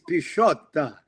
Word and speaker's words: Pisciotta: Sure, it's Pisciotta. Bisciotta. Like prosciutto cheese.